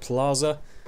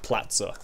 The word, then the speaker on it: Plaza: Is that how you say it? Plaza. My housemates kept criticizing me cuz I called it platza, which I thought was how you said it.